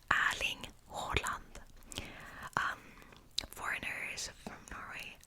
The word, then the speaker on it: Erling Haaland: If you're curious, it is pronounced Erling Haaland.